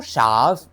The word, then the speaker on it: Chaves: This is my review of 2025 The Conjuring Last Rights directed by Michael Sha. This time pronounce it correctly.